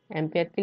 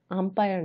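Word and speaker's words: ampere: অ্যাম্পিয়ারকে লিখি এএমপি দিয়ে। এটা উচ্চারণ কিন্তু অ্যাম্পিয়ার, আম্পায়ার না। তারপরে এসেছে কুলম্ব।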